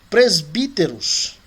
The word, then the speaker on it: presbíteros: Presbíteros. Tá vendo que o Y aí também foi pronunciado com som de I, né?